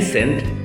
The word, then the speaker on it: scent: একই উচ্চারণ কিন্তু এর মিনিং এবং স্পেলিং ডিফারেন্ট।